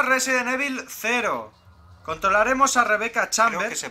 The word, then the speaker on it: Rebecca Chambers: mismo año o resident evil zero controlaremos a rebecca chambers se pronuncia así y también a un expresidiario que